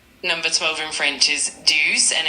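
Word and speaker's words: douze: Number 12 in French is dues and it's spelled d o u z e.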